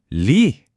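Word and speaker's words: 鯉: 한자로는 리 리라고 읽어요.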